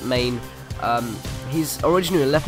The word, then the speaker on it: Mané: right mid we have Maine or mané it's however you want to pronounce I pronounce it Maine um he's originally a